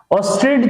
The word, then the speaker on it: Oersted: बच्चों क्लियर करो कि एक जो है साइंटिस्ट थे, फिजिसिस्ट मतलब OERSTED, स्पेलिंग बड़ा जो है खतरनाक है, प्रोनाउंस भी बड़ा अजीब सा है। ठीक है, ऑस्टेड जो है पढ़ते हैं बच्चों, ऑस्टेड्स कॉन्सेप्ट।